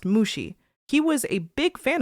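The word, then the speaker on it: 虫: There are lots of homophones in Japanese, but that last character here is the character for bug, pronounced Mushi.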